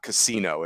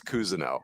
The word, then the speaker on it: Cousino: last name is pronounced kuzano and you're like oh my gosh he's just like every tool plays up because it's not Casino it's Cousino yeah very good um